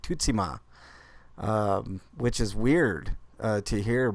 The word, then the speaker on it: Tsushima: To Tsushima, right? But it's actually pronounced differently, and the developer had a different pronunciation that I never heard before. It's like Tutsima, which is weird to hear, but you know